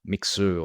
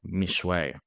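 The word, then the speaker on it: Mixue: Like, we've invested, we're franchisee owners of the ice cream and bubble tea brand Mixu, or I think the Chinese pronunciation is like Mishwei.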